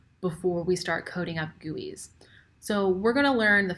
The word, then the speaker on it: GUI: have graphical user interfaces GUIs which are pronounced as gooeys in this class we're